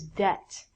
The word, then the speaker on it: debt: We have to say the B it T when we say debit but this word is debt. And if you use your debit card too much you become in debt. In debt means you do not have money and you owe or have to give people money. So it's not debit like debit card. It's debt.